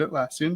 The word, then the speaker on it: Atlassian: you're in google docs or i work at atlassian and you did say it correctly confluence pages